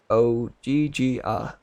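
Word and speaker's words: Ogygia: She pronounced it like Ogigia.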